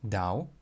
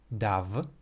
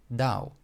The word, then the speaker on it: dav: So for example, the word dau is not pronounced dav, but dau, because it ends in the letter v, which should then be assimilated to the vowel u, according to this rule.